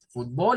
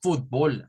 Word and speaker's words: fútbol: Y las palabras en español se deben de tildar en su mayoría, sobre todo de estas que su fuerza de voz está en la primera sílaba. Entonces, esto es fútbol, así.